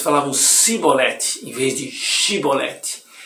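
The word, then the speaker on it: שִׁבֹּלֶת: Se respondesse que não, os homens de Gileade diziam: então diga Shibolete. Se dizia Sibolete, não podendo pronunciar corretamente a palavra, eles o agarravam e o matavam nos vales do Jordão.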